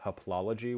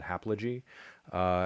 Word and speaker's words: haplology: Instead of haplology, which is when two repeated syllables merge into one, I just said haplogy.